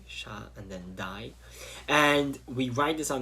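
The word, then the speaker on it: Shaddai: It's pronounced shakai, with a d, sha, and then dai.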